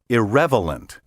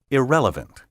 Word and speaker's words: irrelevant: in the word irrelevant be careful not to transpose the l and v and say irrelevant i don't think i'm being irreverent by averring that the proper pronunciation is irrelevant in the word jewelry